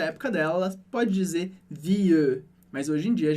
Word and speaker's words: vie: Então eu digo je change de vie, mas aí de novo em vie, esse E não é pronunciado. Eu não falo vieux. Essa era uma pronúncia bem antiga do francês. Aqui a gente diz vie.